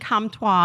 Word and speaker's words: Comtois: Okay, before our second speaker, Roland Comtois, I'm glad he pronounces it the French way.